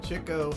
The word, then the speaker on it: Chico: It's Chico. That's how they said it. Apparently, the story is that Chico used to chase all the chicks back in the day, so they called him Chico.